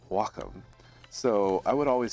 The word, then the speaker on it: Wacom: a wack Wacom Cintiq now I believe the proper way to say it is Wacom because it's a Japanese word I was told this